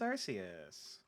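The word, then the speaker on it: Arceus: how that's how it's there are multiple correct pronunciations all words are made up all words are made up that was the original pronunciation they've actually like gotten back like gone back on it more because of it being like hey it is Pokemon Gods it makes sense for Pokemon God to have different pronunciations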